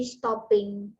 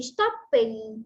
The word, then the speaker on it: stopping: Misal stop jadi stopping, chat chatting, run running. Meskipun dia adalah double konsonan, bacanya cukup single, nggak usah terus kita tebalkan. Stop jadi stopping gitu ya, chat jadi chatting, misal run jadi running.